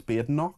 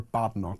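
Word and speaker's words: Badenoch: Very small point, but why do people still don't know it's BNO? Why do they call her Badnock when we all know it's BNO?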